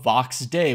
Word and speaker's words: Vox Day: by the name of Vox day which is a homophone for a Latin phrase that's spelled like this and means the voice of God so obviously I will